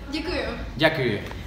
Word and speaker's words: děkuju: How do you say it? Děkuju.